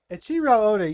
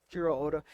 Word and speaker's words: Eiichiro Oda: the studio that's making it, and they're not Eiichiro Oda, or what'd you say his name is? Eiichiro Oda, you said it correctly. Eiichiro Oda.